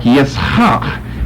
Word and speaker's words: Yitzhak: We don't use gutturals like that in English, a hak, where you got a double guttural there, as you see here with these last two consonants.